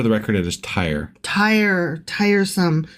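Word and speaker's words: Tyre: fine just for the record it is tire tire tiresome tired of me pronouncing it wrong swing Tire wife is doing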